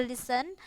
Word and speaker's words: listen: ya Listen to me listen bukan listen ya biasanya pada kesalahan bacanya di sini ada listen listen tapi yang benar itu adalah listen listen to me dengarkan saya